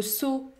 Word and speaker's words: saut: kilo kilo kilo le saut le saut le saut le mot saut se termine par une consonne muette il faut donc prononcer le O ferm sout so sout la